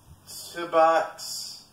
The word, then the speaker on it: Tobox: And I'm here to unbox the Tobox air fryer. I'm sorry, I didn't do my research. I don't know how to pronounce this company's name.